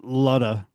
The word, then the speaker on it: Luda: like that brian luda it's pronounced ludda yeah um it says